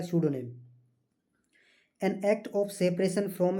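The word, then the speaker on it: pseudonym: स्यूडोनेम इसकी जो है प्रोनाउंसिएशन होता है स्यूडोनेम।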